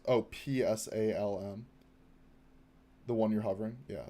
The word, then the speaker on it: Psalm: It's PSALM. The one you're hovering. Yeah, that one. That's pronounced Psalm. Weirdly enough, English can be weird sometimes.